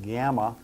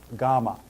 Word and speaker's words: gamma: that is a GMA some of you who may have been in fraternities or sororities you Perhaps Perhaps pronounced it gamma uh but I don't want you to pronounce it that prounce it as GMA and the capital GMA